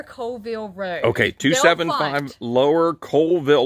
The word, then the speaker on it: Coleville: Road okay 275 lower Coalville like coal uh but it's spelled c-o-l-e not like coal like the Hard Rock